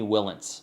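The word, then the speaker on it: Wilentz: of work and in this case it's amy willins and i hope i'm pronouncing that right w-i-l-e-n-t-z she's written for time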